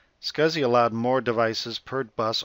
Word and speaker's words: SCSI: replaced by SCSI drives often pronounced as scuzzy scuzzy allowed more devices per